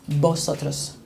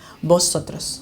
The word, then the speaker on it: vosotros: Just because most of Korean people cannot pronounce the letter V, right? They cannot say V, they say B, right? So it's vosotros, okay? It's a gift, okay? I would say like that, vosotros, okay?